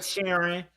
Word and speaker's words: Sheeran: Ed Sheeran. Did I say his name right? Ed Sheeran, yes.